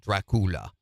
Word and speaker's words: Dracula: woman and Dracula Dracula they call it Dracula which is the right way to say it dra is the uh